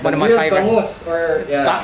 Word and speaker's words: bangus: bangus, or How do you pronounce it?